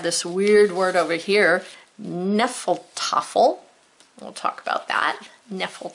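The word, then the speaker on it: Hnefatafl: Then we have this weird word over here, Nephal Tuffle. We'll talk about that. Nephal Tuffle, H is silent.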